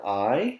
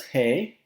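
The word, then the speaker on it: hay: you some practice with this word i again not pronounced as hey i h-a-y and in this question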